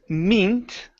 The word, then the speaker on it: meant: This word here, instead of meant, okay, this is a short E sound.